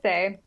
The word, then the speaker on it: Saye: right I forgot to ask you how you pronounce okay yeah it's just say nothing fancy yeah yeah I just wasn't sure